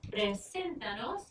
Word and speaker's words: preséntanos: So presentanos, 1, 2, 3, preséntanos, and that's where we're going to put our accent.